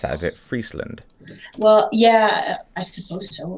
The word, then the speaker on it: Friesland: Is it Friesland? Well, yeah, I suppose so. In English, in Dutch, we just say Friesland.